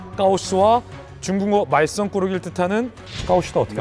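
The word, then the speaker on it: 高市: 그러니까 다카이치 총리의 이름의 중국식 발음 까오스와 중국어 말썽꾸러기를 뜻하는 까오시더 어떻게 합니까?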